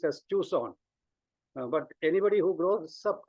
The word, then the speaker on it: Tucson: time as a college student I used to pronounce this as toxin but when my child grew up she corrected me and said that it is pronounced as Tucson but anybody who grows up in those years